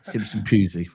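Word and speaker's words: Simpson-Pusey: You can pronounce it correctly. I can't. Simpson Pusey.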